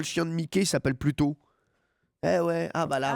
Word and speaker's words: Pluto: Pluton? Non, Mercure. Bien sûr. Oui, c'est par rapport à la planète Pluton, qui se prononce en anglais Pluto.